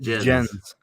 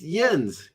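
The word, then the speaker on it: Jens: saying I keep saying yens is it yens or is it gents it is okay spell the J or is pronounced with a y that's what I was thinking is yens Yen's Petter right yeah yeah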